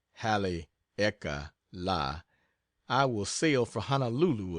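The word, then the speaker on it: Haleakala: I get back from Hal aala pronounced Hal eeka La I will sail for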